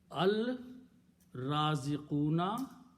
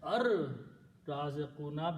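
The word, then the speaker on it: الرازقون: Al Raziquna will be pronounced as Ar Raziquna because Ra is a Shamsi letter. It kills the sound of Lam. So it will become Ar Raziquna.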